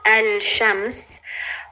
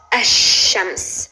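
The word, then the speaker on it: الشمس: So if you want to say the sun, it's written as al-shams, but it's pronounced ash-shams. So you just drop the L and you emphasize the sheen.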